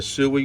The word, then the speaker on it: Sui: and created my account I've already connected a sui wallet that's how you pronounce it it's and the wallet I'm using